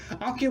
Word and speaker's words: Anko: Yeah, Anko.